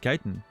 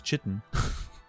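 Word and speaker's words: chitin: you know what I learned today that it's pronounced Kiton I thought it was chitten I always thought it was chitten I always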